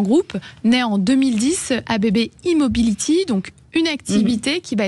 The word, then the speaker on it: E-mobility: monde vous êtes ABB immobility alors c'est un e comme électricité mais on le prononce à l'anglaise une fois à la